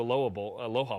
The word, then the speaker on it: Aloha: Plus, there's some, revenge factor there from the 92 Aloha Bowl. Excuse me. I pronounce it like the city in Oregon.